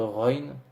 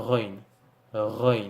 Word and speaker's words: غين: cas et la lettre run qui s'écrit g h mais qui se prononce entre guillemets comme notre ère français mais de façon plus prononcée et si vous voyez